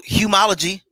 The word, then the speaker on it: Humology: Did I say it right? Well, yeah, you could say it that way. It's so Humology, you know. Humology, there you go.